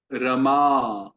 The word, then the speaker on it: रमा: जैसे ये है रमा। रमा। और फिर राम। आप नोटिस कर रहे हैं? बड़ा अक्षर है तो हम उसको खींच रहे हैं, छोटा अक्षर है तो उसका सामान्य उच्चारण है।